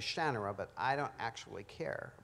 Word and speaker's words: Shannara: had this discussion because everybody says shinara and um i've i said a long time ago that i don't have any claim to the pronunciations i never pretended that that was the importance to me the way i say it is shannara but i don't actually